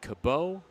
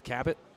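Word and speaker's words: Cabot: Yes, that's how you pronounce the town. Cab B O T. Not Kabo, not Kbot. It's Kat.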